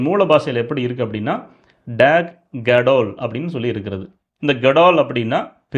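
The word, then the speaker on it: דג: பாஷையில் எப்படி இருக்குது அப்படின்னா, டேக் கடால் அப்படின்னு சொல்லி இருக்கிறது. இந்த கடால் அப்படின்னா பெரிய, மிகப்பெரிய அப்படின்னு அர்த்தம். இந்த டேக் அப்படின்னு வருது பார்த்தீங்களா, அது வந்து எப்படி உச்சரிப்பாங்கன்னா டாக் அப்படின்னு சொல்லி உச்சரிப்பாங்க.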